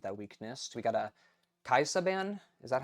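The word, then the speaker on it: Kai'Sa: We got a Kaisa ban. Is that how you pronounce that? Yeah, Kaisa.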